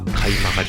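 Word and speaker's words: 鍵曲: 堀内買い曲がりです鍵という感じを書くんですが買い曲がりと読みます道を直角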